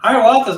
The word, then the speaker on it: Hiawatha: Hiawatha's not really.